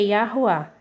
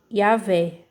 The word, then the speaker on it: Yahweh: Aí pronuncia Yahweh, né? Mas a pronúncia é Yahuá. Yahuá. E aí eles também acabam pronunciando aqui como que? Como Yahvé. Por que Yahvé? Porque eles dizem que a letra W, ela aqui está funcionando como a letra V de vaca. Aí eles falam Yahvé e deixam a letra H muda, entendeu?